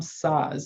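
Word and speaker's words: Szasz: called the myth of mental illness by tom saws and that's spelled s-z-a-s-z i believe old book older book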